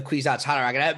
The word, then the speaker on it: Kwisatz Haderach: Wait, wait, yes, and that's actually the next thing I want to talk about is this idea of the Kwisatz Haderach.